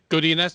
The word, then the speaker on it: Godinez: How do I say her name? I apologize. Yeah, Godinez, you've got it.